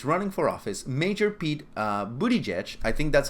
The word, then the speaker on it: Buttigieg: But here we have a Democratic candidate that is running for office, Major Pete Buttigieg.